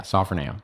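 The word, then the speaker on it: σωφρονέω: This word sophroneo, I believe is how you say it. I hope I'm not saying it wrong. It's it's sophroneo. Sorry, no, sophroneo. Yeah, sophroneo.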